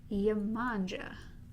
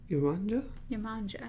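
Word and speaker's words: Yemanjá: The mermaid goddess was Yemanja. Yemanja. It's spelled La Manja, but they have it as Yemanja. Yemanja. Like Yama. Yama.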